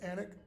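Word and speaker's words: Alnwick: form for um Henry if you go to anic Castle today in North umberland it's it's spelled a l n wi i k but it's pronounced anic and you go into the I used to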